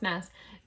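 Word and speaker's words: Maas: J Mass ium me it's pronounced mess um don't don't listen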